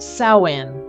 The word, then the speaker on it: Samhain: 2,000 years to the ancient Celtic Festival of samhan pronounced sawin celebrated on the night of October 31st in